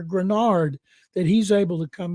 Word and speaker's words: Greenard: Stroud, but other players, Nico Collins, Will Anderson Jr., Derek Stingley Jr., I hope Jonathan Greenard, as I keep hearing him pronounced, people hear Grenard, that he's able to